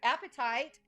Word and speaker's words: apatite: Yeah, apatite, as well as fluorite.